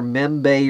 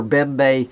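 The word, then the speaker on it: Mbembe: I guess M-B-E, M-B-E is pronounced either Membe or Bembe, says, quote, as for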